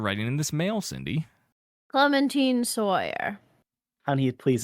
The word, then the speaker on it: Clementine: what you mean what you keep saying Clemen it's Clementine like the orange Clementine so thank you so